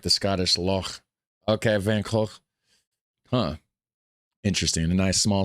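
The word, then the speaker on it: Van Gogh: pronounced like Vancou Vanc with both KH sounds made in the throat like the Scottish lo. Okay. Van Hawk, huh, interesting.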